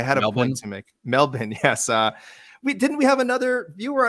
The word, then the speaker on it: Melbourne: It's pronounced Melbourne, a.k.a. Melbourne.